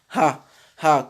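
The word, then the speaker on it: ه: C'est le ha qui correspond en français au ha, au h que nous connaissons. Ha, ha, comme quand on dit hajara, par exemple.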